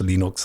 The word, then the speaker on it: Linux: know hello my name is and I pronounce Linux Linux that was played around that I originally